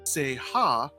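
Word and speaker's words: 聖刃: English word saber and two Japanese characters individually pronounced Seiha, which means sacred blade.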